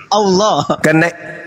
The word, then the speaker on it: Allah: Allah. Karena ini berasal dari Quran, maka kami membacanya Allah.